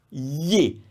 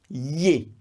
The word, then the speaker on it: gli: strong sound and that's ye it looks funny it's pronounced g-l-i but that GLI is a sound that comes from the throat it's yay I hate this sound